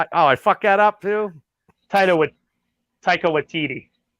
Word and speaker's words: Taika Waititi: And Taika Waititi puts good music in. He's a good director. Did I say it right? Not even close. I fucked that up too. Taika Waititi.